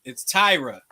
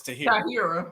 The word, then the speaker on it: Tyra: It's Tyra, but everybody reads it and says Tahira.